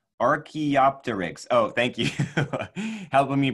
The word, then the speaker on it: Archaeopteryx: Mackenzie and Denali Reeves says, say Archaeopteryx. Oh, thank you. Helping me pronounce these dinosaur names.